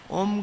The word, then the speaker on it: ओम: का उच्चारण करते हैं ओम शब्द तीन अक्षरों से बना है अ उ म तो हम इसका उच्चारण जब ठीक से करते हैं तो मुह पर होठ बंद हो जाती है और म उसको मिला करर के संधि हो जाती है तो अ उ का ओ बन जाता है और साथ म मिल गया तो ओम तो उसका उच्चारण कैसे